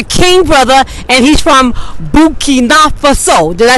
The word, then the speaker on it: Burkina Faso: Yes, we are here in Harlem on 123rd Street, and I met my king brother, and he's from Burkina Faso.